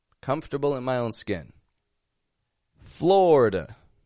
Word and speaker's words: Florida: in my own skin Florida floor that eye in the middle totally dropping out instead of a Florida just two quick syllables FL fla and that a on the ending is awah you want to remember that that's awah it's not Flor da or Flor da but floor dwah ending totally weak unstressed quiet